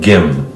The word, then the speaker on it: Kim: Now, it's written with a K in English, but in Korean, it's closer to a G. It's more like Gim.